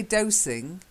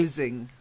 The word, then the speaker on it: dozing: Okay, the next one, you've got to get the Z. It's dozing. A nap. Yeah, that's it. Because if you say dosing, it's more like giving medicine.